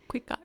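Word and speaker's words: Cuicatl: So Xochitl is flower and Cuicot is song. Cuicot. You don't really pronounce that TL. So it's kind of just like a silent.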